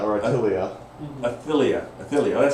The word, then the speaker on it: Athaliah: I'm going to ask the pastor here to pronounce this for me. Athaliah. Call her Athilia or Attilia.